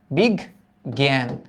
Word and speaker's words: বিজ্ঞান: তাহলে এটার উচ্চারণটা কি? বিগ। এই দেখ বিগ। তারপর কি? এই যে জ্ঞান। বিগ জ্ঞান।